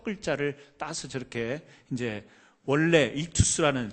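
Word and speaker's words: ἰχθύς: 이 물고기라는 헬라어는요 우리 발음으로 익투스라는 말을 써요. 익투스라는 말을 쓰는데 화면 좀 보여주시겠어요?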